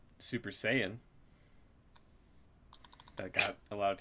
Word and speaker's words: Saiyan: There was Corey Graves not knowing how to say Super Saiyan. That got a lot of people ruffled because he pronounced yeah, he did say Cyan.